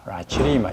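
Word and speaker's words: lacryma-jobi: 그래서 이것은 이제 속명은 코익스라고 하고, 그 다음에 이제 종명은 라치, 요게 라치죠, 라치리마 이렇게 발음하시면 되겠습니다.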